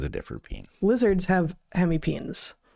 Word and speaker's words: hemipenes: And every time I talk about hemipenes, someone is like, "It's penis." Like, you know what? I was a freaking herpetologist. I'm not saying that all of us aren't pronouncing it wrong, but in herpetology, where we study these things, we call them hemipenes.